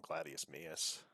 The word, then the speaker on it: Gladius Maius: channel, my non-baseball channel, Gladius Maius. That's spelled like it sounds.